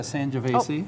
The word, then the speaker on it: Sangiovese: Sangiovese, is that how you pronounce that?